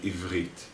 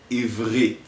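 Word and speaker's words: עברית: The resh is like gargling water. It's like making the ch sound while sounding your voice. Listen and repeat. Ivrit.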